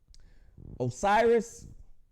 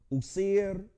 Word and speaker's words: Osiris: Osiris and Isis. This is the anglicized Greek pronunciation of the words. Usir, right? Osset, right?